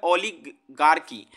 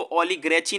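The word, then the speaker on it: oligarchy: ठीक है, चलिए दोस्तों अगला जो वर्ड है वो है ओलिगार्की। ओलिगार्की, देखिए मैं स्पेलिंग भी लिख दे रहा हूं ताकि आप इसको ओलिग्रेची ना पढ़े, इसको ओलिगार्की पढ़े।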